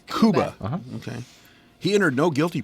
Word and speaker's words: Cuba: yeah I pronounced that correctly its kuba okay he entered no